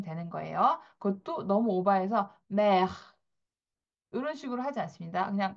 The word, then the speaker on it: mer: mer, mer. 자, mer하고 살짝 공기를 바깥으로 빼주시면 되는 거예요. 그것도 너무 오버해서 mer 이런 식으로 하지 않습니다.